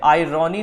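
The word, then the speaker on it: irony: आयरनी तो हम लोग इसलिए बोल देते हैं ताकि स्पेलिंग याद रह जाए, जबकि इसकी जो राइट प्रोनाउंसिएशन है वो है आयरनी।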